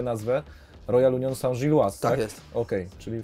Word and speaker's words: Royal Union Saint-Gilloise: Ja jestem ciekaw, w jakiej ty grasz drużynie, bo polscy kibice będą potrzebowali takiego tutorialu, jak się wymawia nazwę. Royal Union Saint-Gilloise, tak?